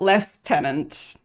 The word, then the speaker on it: lieutenant: Like I thought you pronounce it lieutenant, not left tenant. Like I mean English has weird pronunciations, so yeah. Is that the British English pronunciation?